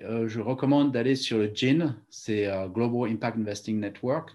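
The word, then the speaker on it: GIIN: Ceux qui aiment bien le sujet, je recommande d'aller sur le GIN, c'est Global Impact Investing Network, donc ça s'écrit G-I-I-N.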